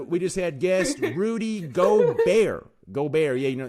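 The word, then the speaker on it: Gobert: How do I pronounce it, man? Go. Go. Go. Go. Go. Say it again. Go. Go bear. Go bear. Go. So like go bear. Yeah, that's perfect.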